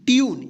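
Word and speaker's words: tune: देखिए क्या पढ़ेंगे इसको रूल, इसको रूले नहीं पढ़ेंगे, क्या पढ़ेंगे rule, T यू एन ई, ट्यून, इसको टूने नहीं पढ़ेंगे, क्या पढ़ेंगे ट्यून, टी यू बी ई, ट्यूब, एम यू टी ई क्या पढ़ेंगे म्यूट, सी यू टी ई, क्यूट।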